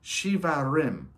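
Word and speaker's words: shevarim: The second blast is pronounced shivarim.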